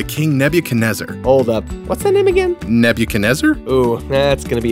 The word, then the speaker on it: Nebuchadnezzar: Nebuchadnezzar hold up what Nebuchadnezzar oh yeah that's gonna be hard to remember let's see rhymes with Ned can you taste her or never can desert oh I got a